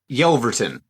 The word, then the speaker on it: Yelverton: who we're talking about yelverton all right there you go guys now you know and that's why I was avoiding it it's okay it is honestly exactly how it's spelled a lot of people